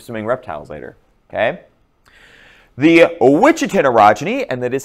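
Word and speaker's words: Ouachita orogeny: The Ouichitin orogeny, and that is how you pronounced it. I know it's not how it looks, but it's Ouichitin orogeny, is an Appalachian orogeny.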